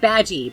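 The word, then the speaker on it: Badguy: He was playing a guy named Dominic Badgie, but it's spelled bad guy.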